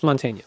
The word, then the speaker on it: Mantegna: It's Montaigne.